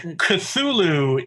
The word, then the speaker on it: Cthulhu: weirdly odd pronounceable that's why you hear like cthulhu is the pronunciation that um chaosium settled on and i